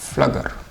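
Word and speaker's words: Pflüger: इसको हम बोलते हैं एग ट्यूब ऑफ फ्लगर।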